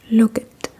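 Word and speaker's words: lukket: And sometimes, especially on a Sunday, the same sign when you flip it around will say, "Look it.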